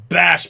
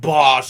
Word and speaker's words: Bosch: He looks over and goes, "It's pronounced Bash, pal, not Bosch.